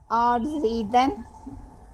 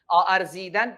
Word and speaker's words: ارزیدن: آرزیدن, افتادن. نہیں, یہاں سے ارزیدن. جی اب کریں. ارزیدن, درست درست.